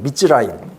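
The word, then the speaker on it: מצרים: 이제 이스라엘 말로 이렇게 써 있는데 이거는 발음이 미스라임이에요. 미즈라임.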